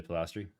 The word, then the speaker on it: Palestri: sniped Juliana Pol uh Polistry. I don't know how to say her last name. Yeah, Julia Palestri. Yeah, Julia. Julia Palestri.